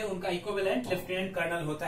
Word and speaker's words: colonel: कर्नल की spelling होती है COLONEL, कॉलोनल, राइट, बट इसको प्रोनाउंस करते हैं कर्नल ही।